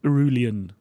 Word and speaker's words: Irulan: But in the second half, you get to meet him, and he's got this daughter, right, Princess Irulan. How do you pronounce it?